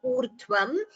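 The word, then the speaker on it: ऊर्ध्वम्: It should be u, not vu. There is a difference between vu and u. U is, this is a swara, urdhvam. When you say vu, that would be a gunitaksharam. That is this va, this and u. So that would be a gunitaksharam. So there should be a difference when you pronounce u and vu.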